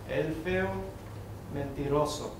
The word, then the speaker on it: Elfeo Mentiroso: Are you aware that when the words in Spanish end in a vowel, or in an N or S, as in your first and last names, the stress is on the second to last syllable, not the third to last, the way you're pronouncing your names?